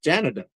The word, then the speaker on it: Janada: Janada. Like Canada, but Janada. I Jan. Okay. Janada.